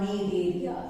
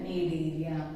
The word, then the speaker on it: Coelenterata: phylum, Coelenterata, or is called need area. C is silent, need area.